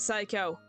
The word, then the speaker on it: psycho: make them a psycho secondly I said psycho you don't pronounce the P sorry about that well